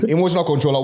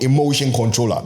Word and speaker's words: Emotion Kontrolla: First of all, I want to say it's emotion, not emotional. Emotion. Oh, sorry for getting your name wrong. Emotion Kontrolla.